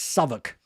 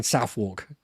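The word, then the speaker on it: Southwark: had on a trip try to pronounce sok rather than southwalk and leester werer not westshire bucking Buckingham Palace not Buckingham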